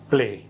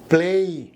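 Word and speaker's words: play: সাধারণভাবে অনেক সময় আমরা বলি প্লে, কিন্তু উচ্চারণটা প্লেই।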